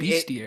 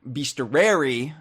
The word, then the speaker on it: Bestiary: I thought it was pronounced Bestia-Rare-y. I mean, Bestiary. A bestiary is like a collection of like fabled creatures and stuff. So Bestia-Rare-y, of course, is that for the DKU.